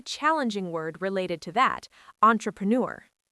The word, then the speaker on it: entrepreneur: Entrepreneur. That's a French loan word, so the pronunciation is a bit tricky. Entrepreneur.